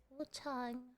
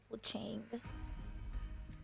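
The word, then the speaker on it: Wuchang: in China by Lindsay Wu Chong Fallen Feathers, which is launching on July 24th. Here's a look. Wu Chong, I like how you said Wu Chong and not like Wang.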